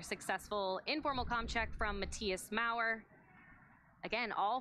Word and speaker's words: Matthias: Matthias，那他 H 是不发音的哦，对，德国人是个爆破。And once the crew members are all